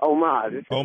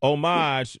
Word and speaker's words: homage: what is that about it's a silent h it's homage paying homage man to the people that came before us okay hold up hold up what a mouth okay hold up it's omage but it's like what